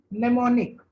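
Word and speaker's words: mnemonic: क्या होता है बेटा, नेमोनिक। ठीक है, एम is silent, am silent होता है।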